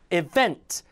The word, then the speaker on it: event: 강세 많이 틀려요 event고 많이 읽으시는데 event 해보세요 event event 것도 ince 아니라 introduce introduce 강세 요거는